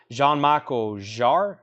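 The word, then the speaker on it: Jean-Michel Jarre: I don't know if we've had this as a Japanese pressing Santana Dave Mason Hart Ted Nugent Aerosmith John Michael jar that's how you say his name Frank Moreno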